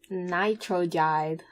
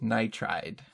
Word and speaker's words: nitride: Potassium nitrogide. Okay, that was 3 syllables. Nidride. Close. Nitride.